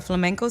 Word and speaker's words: flamenco: type of dance to flamenco? Do? How do you say it? Flamenco? Flamenco. It's like a lot of... It's not like a flamingo, like the pretty bird? Oh. It's a flamenco.